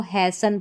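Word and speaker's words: hasten: इसको भी हैसन या यहाँ हैस्टन या हास्टन नहीं पढ़ना, इसको हैसन पढ़ेंगे, ठीक है।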